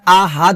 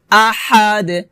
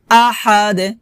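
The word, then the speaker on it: أحد: দিয়ে উচ্চারণ করতে হবে আহাদ আহা হা আহাদ লাস্টে কলকলা করতে হবে কুলহু আল্লাহু আহাদ আহাদ আহাদ এটা হবে না হবে আহাদ কলকলা কলকলা হবে লাস্টে দাল কলকলা হরফ এজন্য আমাদের কলকলা করতে হবে আবার বলি কুলহু আহাদ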